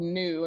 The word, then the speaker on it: nu: Greek letter and the Greek letter is called New and it's spelled Nu um and so new is this